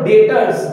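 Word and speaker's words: debtors: ক্রেডিটরস মানে কি দেখো ডেটরস ডেটরস তোমরা ডি ই বি টি ও আর এস কিন্তু বি এর উচ্চারণ করবো না কিন্তু ক্রেডিটরস কি ক্রেডিটরস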